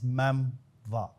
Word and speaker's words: memoir: Mostly people will be thinking about the memoir or the me but actually the pronunciation is meva.